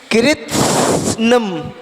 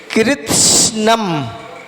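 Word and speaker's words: कृत्स्नम्: तो कृत्स्नम, कैसे? कृत्स्नम, जो सा है ना, तो सा कैसे पढ़ेंगे? सा पढ़ेंगे नहीं, सा पढ़ते समय थोड़ी सी वायु निकलेगी।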